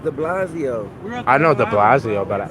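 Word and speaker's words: de Blasio: Mayor Bill the blaz are you saying his name wrong cuz I'm Bill the blazo oh okay I don't think I don't think it's Bill it's the Blasio I know the Blasio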